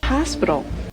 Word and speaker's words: hospital: Hospital. Hospital. Dans mot ça, essayez de prononcer H là. Parce que le stress, il est accentué.